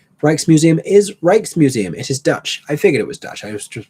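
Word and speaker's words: Rijksmuseum: Reich's Museum is Reich's Museum.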